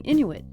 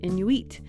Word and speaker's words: Inuit: Like, people have different ways of saying Inuit. It can also be pronounced Inuit. And you'll hear us say it both ways in this episode.